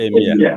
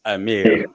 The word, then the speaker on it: Emir: it was mistakenly pronounced Emir, but the real pronunciation is Amir.